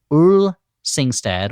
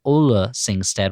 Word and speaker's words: Ole Singstad: engineer Ole Singstad or Ole Singstad. We had a lot of discussion before the recording about how to pronounce it. I always thought it was Ole Singstad, like that's good old Singstad over there.